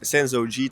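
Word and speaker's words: Sensō-ji: I mean, I've been to the Senzo Gi Temple. Is my pronunciation correct?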